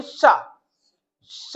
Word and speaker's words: श: touch नहीं करेगी तो जब आप बोलेंगे श तो जीभ जाएगी ऐसे ऐसे मतलब घूमेगी हल्की सी वहां तालु तक जाएगी फिर तालव यानी वापस आ जाएगी श शुद्ध उच्चारण है ये जीभ तालु तक जाकर वापस आ जाना क्या बन जाएगा श